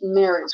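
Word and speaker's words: Merhige: you say it again I think it's marriage because I listened to the DVD commentary um and it's like oh that's how you say oh okay okay um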